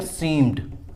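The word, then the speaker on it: seemed: कुछ वर्ड ऐसे होते, कुछ वर्ड्स ऐसे होते हैं जिनके लास्ट में ईडी लगा रहता है, तो उसका जो प्रोनाउंसिएशन करते हैं तो डी ही प्रोनाउंस आता है, ठीक है। उसका जो प्रोनाउंसिएशन आता है डी से ही आता है।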